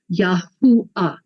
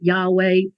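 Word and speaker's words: יהוה: the Germans call it Yahweh that's not Hebrew you know later on the Catholic church called it Jehovah again not Hebrew there's no J in the Hebrew language no J no J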